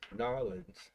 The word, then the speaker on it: New Orleans: And oh, Kelly from New Orleans. Oh wow! Or as they say down there, Narlands.